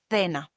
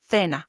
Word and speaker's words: cena: previous episode, cena, dinner, they might pronounce it like cena, for example, cena, in some regions like in Madrid, while in Latin America, the same C is pronounced like an S, as we learned in the previous episode. So it would be cena.